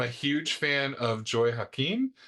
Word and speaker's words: Hakim: I believe that's how you pronounce her name. I did see her at the NCSS conference and call her that once, and she responded to it. But I've also heard Hakim and several other pronunciations.